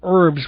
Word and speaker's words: herbs: I had to to learn to pronounce um edible herbs without the H this man comes in here and I've got to remember to to hit the H hard anyway speaking once more